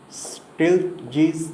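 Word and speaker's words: Stieltjes: known as the reman still G's integral it's pronounced still G's this extension was devised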